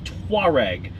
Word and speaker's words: Touareg: Touareg. Two distinct syllables.